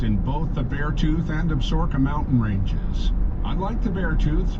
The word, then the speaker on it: Absaroka: The proper way is most likely Absaroka, but many locals call the range the Absarokas, and newcomers often refer to the mountains as the Absaroka.